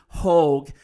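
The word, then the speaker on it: Haugh: So there's a veteran columnist David Haw. He h a u g I'm not mispronouncing Hogue.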